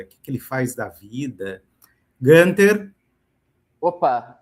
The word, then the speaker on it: Günther: Günther, para quem tem dúvida da pronúncia, tem um tremazinho no U, aí ele sai com som de I.